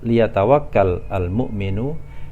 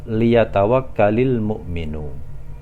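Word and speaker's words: لِيَتَوَكَّلِ الْمُؤْمِنُ: Jadi kalau terpisah kita baca liyatawakkal al-mu'minu, tapi kalau kita baca menyambung kita bacanya liyatawakkalil mu'minu.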